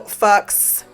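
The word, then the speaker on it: Fuches: sure on that but his name is Monroe Fox but he pronounces it folks I say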